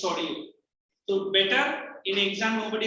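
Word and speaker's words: Sorrieu: Some people say Soro, as a Soro nahi hai. His name is Sorio.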